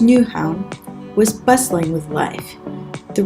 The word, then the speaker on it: Nyhavn: This Instagrammable harbour in Denmark, pronounced Nyhavn, was bustling with life.